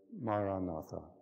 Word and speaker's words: Maranatha: word the word we recommend is the word Maranatha if you choose this word Aramaic word that